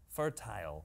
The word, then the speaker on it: fertile: my house is fertile fertile fertile like there's a tile there is a tile